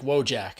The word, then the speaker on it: Wojak: And did clarify his last name is pronounced Wojak, as in Kojak.